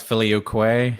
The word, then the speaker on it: filioque: And how do you pronounce that? That's filioque.